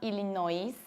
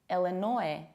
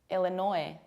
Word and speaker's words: Illinois: And it's not Illinois because you don't pronounce this final S. We say Illinois, Illinois.